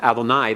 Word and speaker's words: Adonai: Now normally when it's pronounced this way and pointed with the commas at the end, Adonai, that is primarily a title of deity, and for man it is usually shortened to Adon.